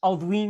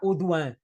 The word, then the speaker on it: Audouin: francês chamado Jean Victor nós dizemos em português ain Mas claro que isto em Fran francês será uan portanto em bom Rigor se nós quiséssemos manter a pronúncia isto seria a gaivota de uan nós é que já